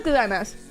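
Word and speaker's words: ございます: Oh, it is gozaimasu.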